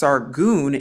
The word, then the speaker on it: Sargon: now we actually see the word sargon in scripture pronounced sargun in yahshua isaiah 20 verse 1.